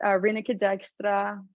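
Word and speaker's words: Rineke Dijkstra: It was Reneke Dijkstra. I don't know how to call it. Like, I don't even know how to pronounce correctly her name.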